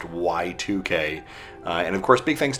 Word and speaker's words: YIIK: not right it says why iik the developers and act studio or act studios have come out and openly said it is actually pronounced y2k and of course big